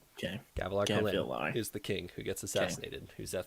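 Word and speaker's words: Gavilar: it it's g a v l a r gavalar okay gavalar is the king who gets assassinated who Z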